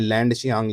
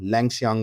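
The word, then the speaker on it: Langshiang: हैं एक दो बार, उसमें लैंड शियांग लिखा हुआ है, बट एक्चुअल प्रोनाउंसिएशन क्या है, लैंगशियांग वाटरफॉल इन मेघालय।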